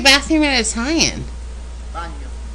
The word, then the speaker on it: bagno: Bagno. Oh, it's the same as in Spanish, baño.